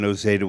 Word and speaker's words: Noseda: we did was we had the audience correctly pronounce his name because now we all can say John Andrea and NOA without a problem but you remember people said NAA and things like that and we had we